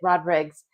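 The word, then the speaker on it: Rodrigues: It's like Rodriguez, but instead of the Z at the end, it's got an S, and he pronounces it Rodriguez.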